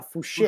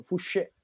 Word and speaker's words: Fouché: Poi sarà Fouché, perché c'è l'accento. Fouché.